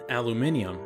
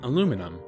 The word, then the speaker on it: aluminium: Incidentally, I use the international pronunciation, aluminium, instead of the distinctly American aluminum.